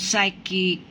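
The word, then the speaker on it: psychic: যে পি এর পরে যদি এস থাকে তাহলে পিটা কখনোই উচ্চারণ করা হবে না, এটা হচ্ছে সাইলেন্ট লেটার। এখন দেখো, যেমন সাইকিক, তারপরে হচ্ছে কি সাইকিক্যাল, তারপরে সাইকিক্যালি।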